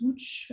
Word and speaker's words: Łódź: Donc, je me retrouve à Lotz, qu'on prononce Łódź, en novembre 2018.